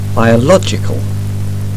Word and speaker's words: biological: Посмотрите, как изменяется ударение в словах, образованных от них. biological, Philosophical, geographical.